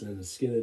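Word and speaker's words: Lynyrd Skynyrd: I don't think that, well, I know they didn't ever better it, and for me, alongside pronounced Leonard Skinner, Van Halen, Montrose, the first album by The Clash, there are some examples of some wonderful debut albums.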